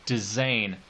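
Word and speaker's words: dizain: it so seldom but it's called a design and so we spell that D I Z a I n so like cinquain it derives from the French so design and we surprised we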